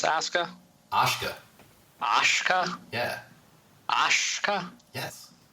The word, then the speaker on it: Asuka: Aska toshka noshka yeah Aska yes like an Oshkosh Wisconsin yeah Oscar Oscar Oscar Oscar just don't do it Kurt Angle did the first time he was on TV and said asuka Oscars Oscars much better